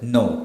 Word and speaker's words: know: And the same thing goes with no, K-N-O-W ആണ്. Do you know this person, or are you familiar with this person? So it is K-N-O-W. Here likewise it's N-O-W, no.